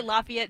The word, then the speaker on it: Lafayette: to be produced in, is it Lafayette? How do you pronounce it here? Lafayette, Georgia? Sure. It's different up north. Yeah, so I would say Lafayette, Georgia.